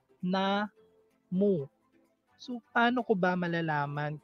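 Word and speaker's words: 나무: So ang first syllable is na, ang second syllable is mu. Na mu.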